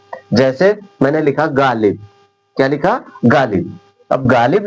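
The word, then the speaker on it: Ghalib: जैसे मैंने लिखा गालिब।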